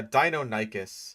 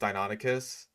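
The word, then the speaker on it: Deinonychus: Yeah, Dino Nikkas. That's one of those pronunciations that I that I hear all the time. Like, even though it is incorrect, it's very common. Like um I know that the guy from Your Dinosaurs are wrong thought it was called Donicus for the longest time until he discovered that it was actually pronounced Donicus.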